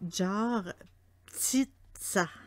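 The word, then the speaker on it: Жар-птица: En russe, son nom, c'est Jar Ptitsa. Ok, là, je sais que je gagnerai pas je gagnerai pas un trophée pour la prononciation, mais c'est Jar Ptitsa.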